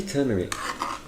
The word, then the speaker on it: turmeric: rice okay it's actually turmeric is it yes that's an r oh i mean i